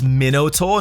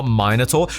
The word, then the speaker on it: Minotaur: It's Minotaur, not Minotaur.